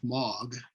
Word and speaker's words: M3AAWG: at this first bullet that m3aawg is pronounced log the messaging malware and